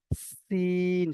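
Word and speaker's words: س: আর এটা হবে সিন, সিটির মতন উচ্চারণ।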